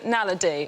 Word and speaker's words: naledi: The Homo naledi, or naladi. Nadali.